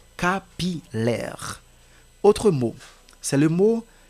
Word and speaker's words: capillaire: lettre L facultative maintenant nous allons considérer le mot capillaire que parfois des personnes prononcent comme capilère non c'est capillaire même si ce mot a une ressemblance avec le mot brouillard ouais brouillard mais vous n'allez pas lire capilère mais c'est plutôt capilaire autre mot c'est le